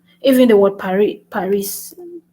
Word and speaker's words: Paris: will pronounce it however but they will not pronounce the s is a consonant so